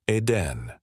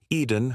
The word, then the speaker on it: Eden: If an accent were present, it would be phonetically rendered as Hotel Aden. However, its original appellation was Eden Hotel, signifying the Hotel of Eden, a place intended to evoke paradise.